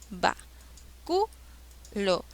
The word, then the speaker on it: báculo: se tildan siguiente palabra báculo separa en sílabas para q lo va cu lo cual es la sílaba que lleva la mayor fuerza de voz va culo lava la mayor fuerza de voz está en la antepenúltima sílaba por ende es esdrújula